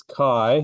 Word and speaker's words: chi: of Christ in Greek so it makes a c sound not a CH sound so do not call